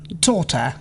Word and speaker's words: daughter: GH is not pronounced before T and at the end of many words. thought, Through, daughter, light, might, right.